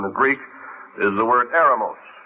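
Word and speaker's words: ἔρημος: it up in the Greek is the word aramos e r m o s we would spell it in English which means literally desert or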